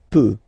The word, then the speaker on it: peut: Then il, elle, peut, so you will put T at the end, you don't pronounce it.